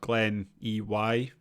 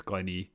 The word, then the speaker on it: Glen Ey: to go to, and it's spelled Glen EY, I think it's called. So yeah, I think it's Glen E, but it being Scottish, it could be something completely different. But so it's Glen E, and there's a